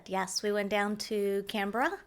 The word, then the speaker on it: Canberra: we went down to Canberra yes it's not pronounced kambera no though it was